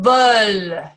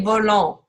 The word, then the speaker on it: veulent: Ils veulent. Il veut. Il veut. Remember this ENT, we don't say volant. Ce n'est pas volant. It's veulent. Okay, so this ENT is silent.